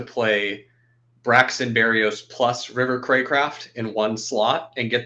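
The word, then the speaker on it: Cracraft: got 29 roots and River crack craft or what is his name crack River Craycraft Craycraft that's how you say it with 16 and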